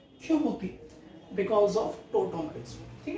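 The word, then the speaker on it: tautomerism: ठीक है, आपको याद आ रहा हो तो हमने पढ़ा था टोटोमरिज्म, टोटो नहीं बोलते उसे, टोटोमरिज्म, ऐसे स्पेलिंग होती है TAUTO।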